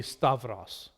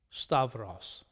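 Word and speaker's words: σταυρός: not uf but of so stauros would be stavros stavros of toss stavros that's koni and modern pronunciation classical harassment outhouse stavros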